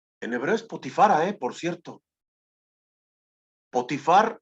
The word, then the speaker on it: Potifar: hebreo Spotify Por cierto potifar en español potifar en hebreo es decir como si fuera femenino pero así es en la forma de pronunciar el nombre de potifar en hebreo potifará potifar tiene su esposa